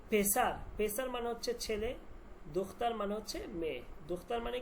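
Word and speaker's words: دختر: উচ্চারণ হবে না এখানে ওকে আর মেয়ে এটার উচ্চারণ কি হবে দুখতা দুখতার কেউ কি আসছে নাকি দুখতার দেখেন দুখতা দেখাচ্ছি আমি এটা হবে দখ তার দখতার মানে মেয়ে।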